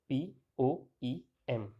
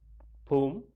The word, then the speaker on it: poem: Now about the pronunciation of the word poem. This word has three pronunciations: poem, poem, or poem and poem. So first is poem, where O, after O sound is there, very short O sound is there.